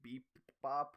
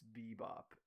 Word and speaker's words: Bebop: when you say it before, it sounds like you say beep bop, like with two P's, but it's bebop.